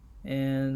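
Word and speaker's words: ei: You can pause the video and let's go to next. E I or U E. This pronounced just like the English letter A. It would pronounced a.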